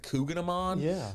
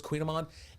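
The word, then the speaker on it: Kouign-amann: It looks like Coogan Amman, but it's Queen Amman.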